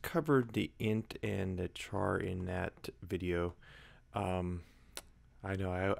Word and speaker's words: char: And I just covered the int and the char in that video. I know I always say char, but I think it's actually pronounced car.